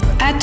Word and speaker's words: এত: এই এত শব্দটি উচ্চারণ করতে গিয়ে আমরা এ এবং তো এই দুই ভাগে উচ্চারণ করছি। এটি দুই অক্ষর বিশিষ্ট একটি সর্বনাম, তাই এখানে এর উচ্চারণ বিবৃত হয়েছে, অর্থাৎ আমাদের এই ধ্বনিটি উচ্চারণ করতে গিয়ে ঠোঁটের প্রসার ঘটেছে।